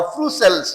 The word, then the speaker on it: frustule: Cell, SHELL cell, और फ्रूसेल्स या बहुत से लोग फ्रूस्टल भी बोलते हैं. डू द करेक्ट प्रोनाउंसिएशन, इसको बोलते हैं फ्रूसेल. टी जो है, टी का प्रोनाउंसिएशन SH होता है, FRUSTULE, फ्रूसेल्स या फ्रूस्टल,